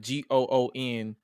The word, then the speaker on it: Gunther: Oh, and if you follow him on Twitter, he's the reason why I pronounce it Gunther, like GOONTHER, Gunther, and not Gunther, because of Malcolm Bivens.